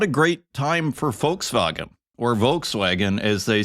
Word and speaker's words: Volkswagen: over in Germany where Volkswagen as the Germans call it Volkswagen as English-speaking people call it the V is an f and the W is pronounced like a v